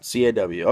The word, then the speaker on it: CAW: You spell it out, CAW. Okay. Now I can say it the right way.